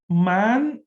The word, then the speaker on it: man: explain the word mantra man m-a-n very similar it pronounced in the same way as man is in english means the mind or